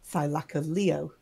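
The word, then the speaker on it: Thylacoleo: and they always is thilaka Leo it's always ended with Leo as the emphasis H so whereas I do pholio um I've only in documentary has heard it it's pronounced thilaka Leo it's a yeah Sil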